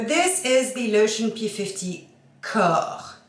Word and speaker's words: Corps: So this is the Lotion P50 Corps, not corpse, corps. Let's say it right. Corps is body. Yeah, not dead body.